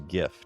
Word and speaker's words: GIF: It is GIF. Do you know why? Because it stands for Graphics Interchange Format. G, hard G.